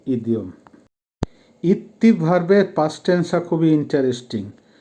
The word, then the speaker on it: идти: দেখেন প্রথম ভার্বটা হবে ইত্তি উচ্চারণ হবে ইত্তি যখন পায়ে হেঁটে যাবেন